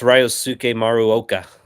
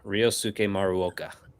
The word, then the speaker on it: Ryosuke Maruoka: Yeah, it's Ryosuke Maruoka. Ryosuke. It's like Ryosuke. Ryosuke Maruoka.